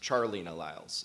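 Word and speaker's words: Charleena Lyles: of you to know her name is actually pronounced Charlie no Lyles she's named after her father and the reason I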